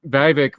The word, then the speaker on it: Vivek: So you're going to have at least Vivek rhymes with snake, rhymes with fake.